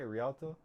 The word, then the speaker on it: Rialto: Oh, that's how you say it, Rialto?